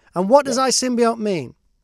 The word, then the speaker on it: iSymbiote: do we say the title how do we pronounce is it i symbiote yes i symbiote and what does i symbiote mean it's basically um intelligent symbian so um